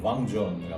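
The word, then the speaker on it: vin: 하지만 여러분 현재 가시면 뱅이 아니라 왕입니다.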